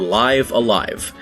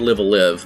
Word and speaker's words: Live A Live: i've heard it called live a live but according to a couple of the podcasts i heard about shimomura the official pronunciation in english would be live alive we're going to talk